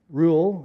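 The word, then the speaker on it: Reuel: I like the original Hebrew which is ruel rule is commonly pronounced because Jethro I think of the guy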